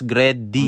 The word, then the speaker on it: Greddy: niyo yung nakalagay o pronounce gred d the words great and Eddy in strong swirling and